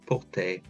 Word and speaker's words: porter: Whenever anything ends in ER, it's pronounced like an A sound. J'aime porter.